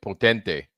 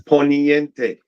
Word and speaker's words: Poniente: I kept mispronouncing it and calling it potente, and that means power. And You see, that's what happened. No, it's Poniente.